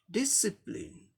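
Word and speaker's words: discipline: ये 3 लेवल्स का वर्ड है, इसलिए फर्स्ट लेवल पे स्ट्रेस दिखाया गया है, यानी फर्स्ट लेवल को जोर दे के बोलना है। डिसिप्लिन, डिसिप्लिन, डिसिप्लिन, ऐसे बोलना है।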